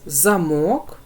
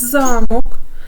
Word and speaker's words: замок: малюночку у нас замок Два склади другий склад ми вимовляємо з більшою силою голосу на другому на другому малюночку у нас замок Два склади перший склад ми вимовляємо з більшою силою голосу Отож у першому слові голосніше вимовляємо другий склад а в другому перший Отже той склад у